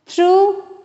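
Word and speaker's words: through: एच इज not pronounced थ्रू यजीएच इज not pronounced थ यजीएच इज नॉट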